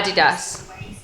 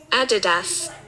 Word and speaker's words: Adidas: Kyle, they are Adidas.